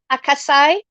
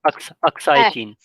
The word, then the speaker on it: Aksai: that's occupied by China, the is it called Akasai? I can never pronounce it properly. Aksai.